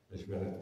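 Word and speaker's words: Meşveret: Meshberet, prononciation turque du mot mashwara, c'est-à-dire la consultation, qui appelait au retour à la monarchie constitutionnelle à Istanbul.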